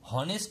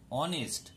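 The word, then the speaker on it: honest: তাহলে কিন্তু এন বসবে এখানে কিন্তু কথাটা হনেস্ট নয় অনেস্ট মানে অদন্ত ননকা হবে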